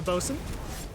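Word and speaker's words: boatswain: you would have the bosun spelled like a boat swain for some odd reason not sure how that works but anyways so you'd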